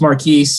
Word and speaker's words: Markquis: It's just Markquis.